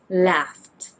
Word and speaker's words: laughed: Now please be careful that the sounds you hear may have different spellings, just like in the sound of F. It could be spelled with a GH, just like in the words laughed and cuffed.